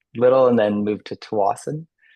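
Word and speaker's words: Tsawwassen: and then moved to Towasan or Swasan it's sometimes pronounced.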